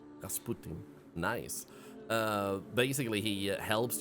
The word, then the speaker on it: Rasputin: an English act okay in Polish it's Rasputin Rasputin nice uh basically he